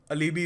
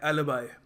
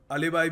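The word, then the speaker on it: alibi: देखिए अगला शब्द है ये, काफ़ी लोग इसको प्रोनाउंस गलत करते हैं, ये अलीबी वगैरह कह लेते हैं। इसको प्रोनाउंस करने का सही तरीका है एलिबाई। एलिबाई, चलो थोड़ा इंडियन एक्सेंट भी हो गया तो अलीबाई भी चलता है कभी कभी, पर अलीबी मत बोल देना, एलिबाई, ठीक है।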